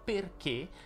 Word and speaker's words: perché: Sì, perché la parola perché si pronuncia con la E chiusa, ma questo lo abbiamo già visto nel video Le sei parole che non si possono sbagliare.